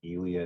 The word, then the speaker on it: Ely: It's spelled Ely, but it's pronounced Ely, I think that's right.